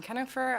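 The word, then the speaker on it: Kienhoefer: My name is Kennifer. I'm with Ferrari Reader representing Nevada's credit unions. For the record, that is spelled K I E N H O E F E R.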